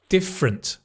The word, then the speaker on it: different: Different. Different. Not different. Different. The f like from different, right?